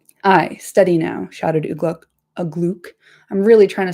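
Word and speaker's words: Uglúk: I study now shouted Ugluck Agluke. I'm really trying to say his name correctly. I say it in my head as Agluck, which is wrong. So I got to say it like Augustus Gloop.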